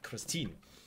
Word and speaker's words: Christine: Then next up, let's start with the small package from Kristen or Christine because she's German, so you have to pronounce it like a German name, Christine.